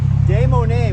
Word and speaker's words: Des Moines: Des Moines, which means the mounds. It's about the Indian mounds. I don't know if you knew Moines? that. Oh, really? No, I didn't know that. Des Moines is about the Indian mounds.